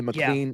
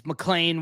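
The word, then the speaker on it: McLean: Mlean is supposed to pitch that day. Yes. Um you know I mean after that as well you know whether it is is Mlan whether it is I just found out by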